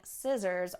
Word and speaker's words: scissors: a very common word i find myself using scissors almost every day whether it's in my office